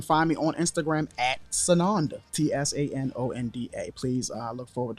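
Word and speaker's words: Tsanonda: find me on Facebook sonanda again it's spelled with the T the t is silent like tsunami sunanda t-s-a-n-o-n-d-a words and then you can find me on Instagram at sananda t-s-a-n-o-n-d-a please I look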